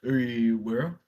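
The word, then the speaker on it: Urewera: Uruwera.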